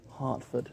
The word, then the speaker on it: Hertford: Hertford, spelt with an E but pronounced an A.